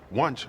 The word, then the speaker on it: Wunsch: childish rivalry with Madeline Wunsch. It usually consists of them lobbing rather creative insults at each other. Oh my God. Wunsch sounds like lunch.